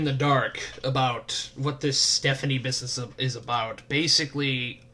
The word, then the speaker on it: Stefonknee: of Stephanie and no not Stephanie as in how would you you would normally pronounce its ste pH a and ie Stephanie as in ste Fon K and E so it looks like Stefan and then knee and oh my god